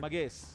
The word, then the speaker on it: Mahesh: Chennai, and all that, you won't be called as Mahesh. You would be called Magesh. Ready? Yeah, you would be called as Magesh. So we don't have a Ha pronunciation in Tamil, basically. In Kannada, we do.